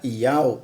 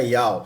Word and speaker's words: Iau: e exclusivo nome verdadeiro, Iau, pronúncia Iau dos exércitos, com a tônica na primeira sílaba, Iau. Então o negócio tem que ser assim, irmão. Se for para você invocar, invoca Iau.